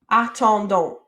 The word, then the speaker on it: attendons: All right, so we have a, attend, and donc. Attendons.